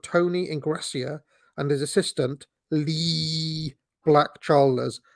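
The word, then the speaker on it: Leee: Ingrassia and his assistant Lee Black Chalmers, I say it like that because it's Lee with 3 E's.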